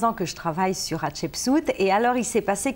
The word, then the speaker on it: Hatshepsut: Je vous aide à le prononcer. Hatshepsut, ça veut dire la première des premières, en fait, en hiéroglyphe, justement.